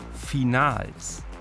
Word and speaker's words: Finals: Bei den Finals. Ja, tatsächlich deutsch ausgesprochen, denn es sind erstmals viele deutsche Meisterschaften in einem.